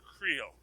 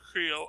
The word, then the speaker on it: Creel: crusher crowd sorry crusher creole crusher creel i've always mispronounced his name his name is spelled creel there's whatever pet name you have for him is fine but it's crusher creole c-r-e-e-l he is the sexiest man